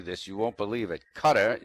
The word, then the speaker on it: Qatar: you won't believe it cutter that's spelled q a t a AR cutter buys a soccer